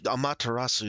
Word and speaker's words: Amaterasu: Here, it's pronounced Su, so Amaterasu.